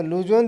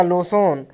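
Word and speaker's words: Luzon: तो लुजोन द्वीप संबंधित है वो है ऑप्शन नंबर बी यानी फिलीपींस से संबंधित है। Correct answer. आपको बताएंगे कि लोजोन या लोसोन दोनों उच्चारण सही हैं।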